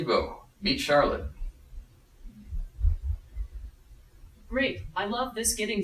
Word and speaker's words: Charlotte: and face so I'm supposed to call you Charlotte is that how you say it yeah yes yes great Charlotte Charlotte Charlotte Oh now to get to know